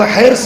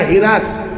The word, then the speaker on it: حرص: حرص مانے بولیے لالچ، اصل تلفظ ہے اس کا حرص۔ لکھنؤ میں جائیے ہو جائے گا ہرس، ہے نا، ہمارے گاؤں کی طرف جائیے ہو جائے گا ہرس، لیکن صحیح تلفظ کیا ہے؟ حرص۔ حرص مانے لالچ۔ اب